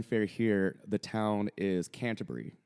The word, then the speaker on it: Canterbury: here, the town is Canterbury, right? But we would say Canterbury a lot, and we would kind of get in trouble for it sometimes. It's like, it's not Canterbury, it's Canterbury.